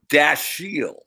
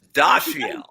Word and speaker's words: Dashiell: spoken on the cartoon they pronounced it dashiell right yeah and i always read it as dossier oh now i'm a